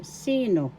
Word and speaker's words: sino: c second syllable no the accent is in the first syllable sino sino who in english ka ilan